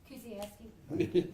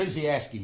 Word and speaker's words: Kuziaski: Our EMA director, Patrice Kuziaski. Y'all can say that if you want to. Kuziaski. If you see how it's spelled, it's not. You don't say it like it's spelled.